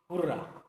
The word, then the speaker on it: হুররা: তো আমরা যে কোনো একটা ইন্টারজেকশন নিই, ইন্টারজেকশন যেমন হুররা। আমরা জানি হুররা কথাটাকে আমরা জেনারেলি আনন্দ প্রকাশ, বই প্রকাশ করার জন্য আনন্দের ব্যবহার করি। কেউ একে হুররে বলে, কেউ হুররা বলে, বিভিন্নভাবে উচ্চারণ করা সম্ভব।